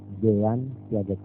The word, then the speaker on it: Jean Piaget: Jean Piaget. J-E-A-N-P-I-A-G-E-T. Jean Piaget. Itu tulisan Latin.